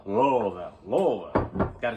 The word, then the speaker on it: Louisville: no no it's Louisville Kentucky that's right Kentucky Louisville Louisville Louisville got to say it right right but